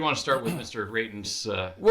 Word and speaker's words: Reitan: I keep wanting to say Rathian, but it's Raiden the way that the way they've been pronouncing it.